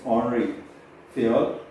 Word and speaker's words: Henri Fayol: And Henry Fayol, we discuss in terms of French, when you pronounce it's Henri Fayol, and he was a French management theorist, and his theory is yet widely influenced right now also.